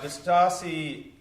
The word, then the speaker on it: Distassi: So, Distassi, that's how you say it, Distassi, right?